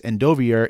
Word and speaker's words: Endovier: He says Endovier is Endovier, not Endovier, right? Which is weird because her name is Kaltain Rompier, but it is Endovier.